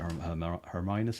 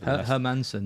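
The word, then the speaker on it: Hermansen: Like the sign supposed to be like decent hermus, is it? Or I don't know how you say it. Hermanson.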